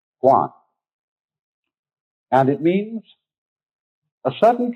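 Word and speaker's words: 觀: And that means seeing and the whole character is pronounced guan.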